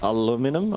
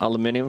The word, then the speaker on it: aluminium: for some people out there savages can it pronounce uh aluminum aluminium for me how do you guys do it